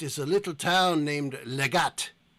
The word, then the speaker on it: Legate: Far to the east is a little town named Legat. Legat. It is spelled Legate.